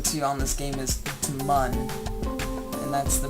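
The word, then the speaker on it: Mün: on this game is mun and that's the moon of kban or actually really should be pronounced Moon even though it's spelled m u n but the U had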